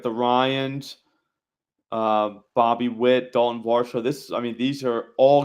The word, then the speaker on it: Varsho: I think it's Varsho.